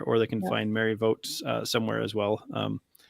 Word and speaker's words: Voogt: find you there or they can find mary votes uh somewhere as well um as i learned that's the correct pronunciation the name well to take it home